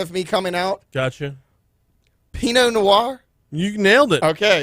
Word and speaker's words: Pinot Noir: Pinot Noir?